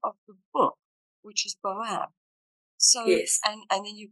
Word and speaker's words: boab: So the way it's spelled on my book, B-O-A-B, that's the Australian way. Boab. Mm-hmm. The Boab. So there, you can call it Boabab or Boab.